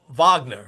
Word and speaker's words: Wagner: And one might say, so there was a stat that NBC shared when Wagner, Wagner, right, is a proper way to say it,